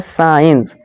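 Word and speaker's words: science: कम फिर है दोस्तों सी यदि ई और आई से पहले और एस के बाद सी हो तो सी साइलेंट होता है एग्जांपल देखिए यहां क्या है साइंस साइंस यहां देखिए सी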